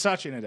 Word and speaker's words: Satya Nadella: It's Satya Nadella.